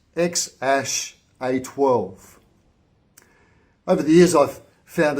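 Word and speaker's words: X Æ A-12: Apparently, it's pronounced X-A12.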